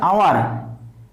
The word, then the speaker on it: hour: কামটো সম্পূৰ্ণ কৰিবলৈ 1 ঘণ্টা সময় আছে অৰ্থাৎ আৱাৰ প্ৰথম আখৰ এই আৱাৰ শব্দটোৰ প্ৰথম আখৰ এইচ কিন্তু pronunciation কৰোতে কি হৈছে প্ৰথমতে এইচৰ উচ্চাৰণ নহয়